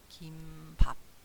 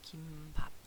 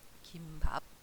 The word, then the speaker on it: 김밥: 이거 김밥이라고 하죠 그러나 표준 발음에는 긴 긴 발음을 해요 요거 긴 발음 이거 긴 발음 표시죠 그다음에 밥 그러니까 된 소리로 읽지 않죠 이거 어떻게 읽었냐 김밥 이렇게 얘기 돼 김밥 김을 싼 밥 김밥 근데 요즘 김밥 김밥 그러죠 그래서 요거 정확하게 발음을